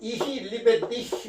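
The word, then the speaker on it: ich liebe dich: 이히 리베디히 그럽니다. 이히 리베디히. 이게 뭐냐면요. 이 CH 발음이 히 발음이에요. 이도 아니고 히도 아니고 그 중간만 이 리베티, 나는 너를 사랑한다 그런 뜻이거든요.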